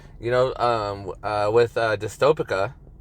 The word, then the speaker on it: Dystopica: and all that you know um uh with dystopic pronounced it right this time yes you did um